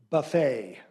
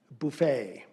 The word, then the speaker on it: buffet: Buffet. Buffet. Alternate pronunciation, buffet.